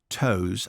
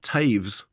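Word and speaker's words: Toews: and language I'd like to suggest that Miriam toes I think that is the novel it's actually pronounced Taves is it okay yeah weirdly yeah Miriam Taves the novelist and Sarah Polly the screenwriter have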